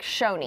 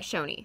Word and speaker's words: Choni: be yeah yeah so they write it like Choni but we're gonna pronounce it like Shoni Shoni all right this is